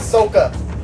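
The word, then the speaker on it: Sokka: did SOA and and yes his name is sooka that's how it's pronounced in as yeah and one it's sooka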